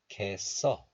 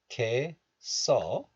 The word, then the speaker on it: 겠어: So liaison or linking occurs, and the 쌍시옷 of this letter moves to the next letter. So this becomes 써, 써. 알겠어, 겠어. But still, pronouncing this letter as cat is also allowed. So 겠어 and also 겠어. Both are fine.